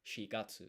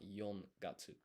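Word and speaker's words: 四月: But, for example, the fourth month of the year, April, in Japanese is shigatsu. It's not yongatsu.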